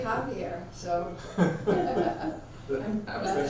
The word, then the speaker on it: Javier: We say Javier, so. I've been spelling your name wrong this whole time, who knew?